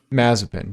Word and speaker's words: Mazepin: Mazepin.